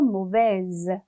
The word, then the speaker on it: mauvaise: mauvais, S 발음하지 않았지만 여성형으로 만들 때 을을 붙이면서 mauvaise 하고 이 발음이, S 발음이 앞에 이렇게 모음이 있고 뒤에도 있고 사이에 들어가 있으니까 z 돼서 mauvaise 이렇게 발음이 되죠.